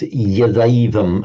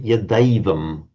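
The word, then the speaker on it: यदैवम्: always pronounced as an I sound, like the two I, rather than as the A. So it's Yadaivam and Tadaisham. You would certainly be understood saying it like that, but for the pure classical pronunciation, you'd want to make it the distinct diphthong.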